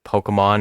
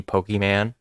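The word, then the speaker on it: Pokémon: you like guys who can't understand that it's pronounced Pokemon and not the Pokeman oh good God you want to date your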